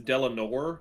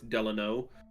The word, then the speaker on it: Delano: A lot of times people mispronounce it as Delano Roosevelt because that's a more normal name, but he is not Delano, it's Delano Roosevelt. There's no R.